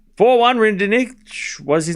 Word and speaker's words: Rinderknech: It's pronounced reindeer-nish. No, it's not. It's Rinderknech. Love 15.